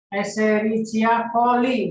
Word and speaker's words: Escherichia coli: Escherichia coli bacanya.